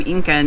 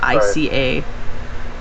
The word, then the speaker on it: Ica: Eike Eike stones yeah I always want to pronounce them Incan and Inca and there's no end in that word it's just I ca pick a stone yes